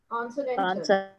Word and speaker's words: consonantal: When you want to stress on one syllable, the adjacent syllable or neighboring syllables become weak actually. Ridiculous, ridiculous, like that. Okay, next. Consonantal.